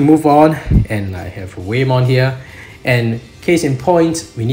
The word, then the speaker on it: Whamon: So it's whale, like that's how they would pronounce whale. So Whamon. So it's just based on the romanization of the Japanese character, so I guess that's how we're supposed to pronounce it. So I'm just going to pronounce it as Whamon from now on.